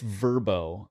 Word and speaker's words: VRBO: I think it's Verbo. I'm the one who always says VRBO. It is Verbo. I say it wrong.